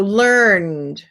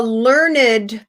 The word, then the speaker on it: learned: canned and andy so learned um but if you're going to use it as an adjective a learned professor a learned scholar a learned student then you you do it with two syllables the same thing with